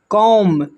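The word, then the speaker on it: comb: तो यहां पर देखिए जैसे लिखा हुआ है कॉम। कॉम में जो है बी साइलेंट है।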